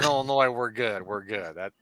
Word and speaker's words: Illinois: phonetic there sorry sorry as long as you don't pronounce the s in Illinois we're good we're good